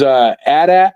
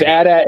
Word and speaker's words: AT-AT: It is AT-AT unless you are telling people what it is. But it's AT-AT if we're talking between each other, like BMW is BMW.